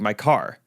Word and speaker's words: Mikar: But on Facebook or on anywhere, his name is spelled Mikar. Okay, looks like my car. Mm-hmm. But he's British. So I was like, well, they drop the R.